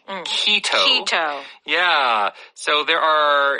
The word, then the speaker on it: keto: so this keto diet in Korean you usually pronounce the word KET uh but it is at least in American English keto keto yeah so there